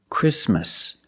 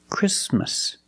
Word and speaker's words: Christmas: Link the sound s with the m. Christmas. Christmas.